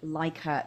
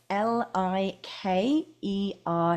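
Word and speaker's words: Likert: really detailed form now I love what's called likur scales that's spelled l i k e r t if you've never heard of a Liker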